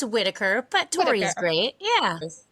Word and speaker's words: Whittaker: It's Whittaker, but Tori is great.